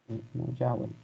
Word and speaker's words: nullable: Se pronuncia Así, nullable, exacto.